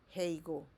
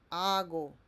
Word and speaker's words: hago: Also, we don't say heigo. We say hago.